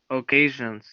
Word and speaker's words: occasion: Occasions. Occasion. Good. The O is pronounced like a. Occasion.